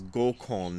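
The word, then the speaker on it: 五根: And he's talking about the various roots, the five root forces, and in the footnote it says Gokon, that's how it's pronounced in Japanese, from the Sanskrit Panchendriyani.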